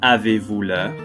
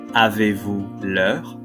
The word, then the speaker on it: Avez-vous l'heure: Avez-vous l'heure? Avez-vous l'heure? Avez-vous l'heure? As you can see, there's a silent Z, S, and H.